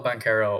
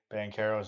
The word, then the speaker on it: Banchero: Ranchero, and that's how you say that, okay? And it's spelled the same way, just with an R.